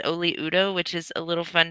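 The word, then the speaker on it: Oli Udoh: I believe that's how you say it, is Oli Udo, which is a little fun to say.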